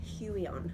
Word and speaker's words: Huion: But there is another brand, Huion, I think it's how you pronounce it, H-U-I-O-N, and they make one